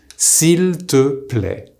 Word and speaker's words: s'il te plaît: The correct way to say please using tu is s'il te plaît. Now, what happens when we speak is that you'll often hear s'il te plaît. Here, the il completely disappears.